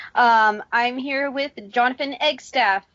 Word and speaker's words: Eggstaff: pronounce that right its egg stuff right yes it's jonathan egg just it's spelled exactly how it sounds good I figured I'd